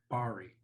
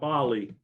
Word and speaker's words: Bari: attack on at bari did i pronounce that right b-a-r-r-e-b-a-r-i barry bari bari not bali bari which was dubbed little pearl